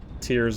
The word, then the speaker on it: Tears: interview with Anuma that it's pronounced tears. Like, you're tearing the fabric of time.